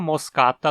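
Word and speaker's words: moschata: da América do Sul em moscata a penúltima sílaba cá também tem uma vogal longa então é paroxítona também esse ataque é um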